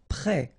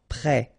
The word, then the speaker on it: prêt: Prêt. Final T not pronounced. Accent circonflexe like that phonetically gives you the E sound. Prêt.